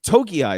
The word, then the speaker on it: Togiai: Did Noah how do you pronounce his last name again? I'm sorry. Togiai is the best Togiai, that's right.